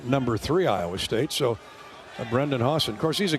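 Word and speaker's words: Brendan Hausen: That's pronounced. Brendan Hawson out of Amarillo, Texas, the senior who averaged double figures at K State last year.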